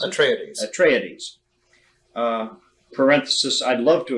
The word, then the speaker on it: Atreides: You have the forces of the House of Atreides, do you pronounce it? Atreides.